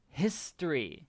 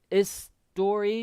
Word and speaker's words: history: sell it say it history because remember in english we usually pronounce the h history story history story okay so you can see don't say is story because sometimes spanish speakers